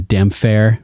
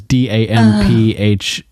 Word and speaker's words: Damphair: It's funny, in the audiobooks, Roy Dotrice mispronounces it. He calls him the Damphare. Damphare, because Damphair. He misread funny. The P and the H as a F sound instead of separating them as two, like they were two words combined, damp hair.